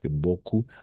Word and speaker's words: beaucoup: i o savoir beaucoup ah aussi ici e a on va prononcer comme un O a toujours o d'accord e a o si combination et a com a auss et ensuite au U ou c'est pourquoi ici on va prononcer beaucoup d'accord beau coup beaucoup